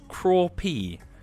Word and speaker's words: crappie: Synthetic Life says, as a southerner, where we fish lots of crappie, in America, you can confidently say that they are pronounced crawpee.